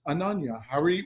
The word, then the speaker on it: Ananya Harvey: so without further ado I'd like to introduce Ananya Howie welcome to the show and Anja thanks oh